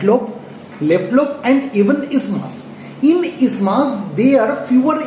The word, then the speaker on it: isthmus: Though its spelling is isthmus, we will not pronounce it as isthmus. The actual pronunciation is isthmus.